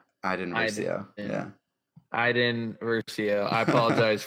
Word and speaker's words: Iden Versio: Next card is Eden Versio. Come on, dude. I don't know. Is that how you say it? No, it's Iden. Iden Versio.